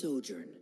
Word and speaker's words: sojourn: wealth is everything clear how do you pronounce this word let me see Ah that's sojourn it means to stay for a while this